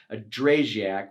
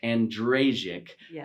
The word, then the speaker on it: Andrejczuk: sit down with a dray Jack which is not the proper way to say your name how do you say your last name and rage ik it's easier to say than spell I promise you that